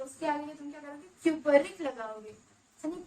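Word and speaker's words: cupric: तो जो 2 वाला है वो बड़ा है डेफिनेटली, तो उसके आगे तुम क्या करोगे, क्यूपरिक लगाओगे। सनी कॉपरिक मत करना प्लीज, क्यूपरिक लगाओगे, क्यूपरिक बोलोगे उसे।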